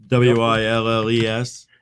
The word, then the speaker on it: Willes: Willes. Yeah, people always trip up on that because it's not like Bruce Willis with an I. It's ES with an E, but it's pronounced the same because you're saying Your I and is Right.